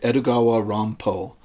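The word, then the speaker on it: Edogawa Rampo: And uh if that sounded like I just kind of said Edgar Allan Poe, uh that is because this writer named himself after the Japanese pronunciation of Edgar Alan Poe, Edugawa Dampo.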